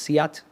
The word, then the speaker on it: SEAT: own Bentley they have skoda I think it's pronounced seat or seat spelled seat but s-e-a-t yeah yeah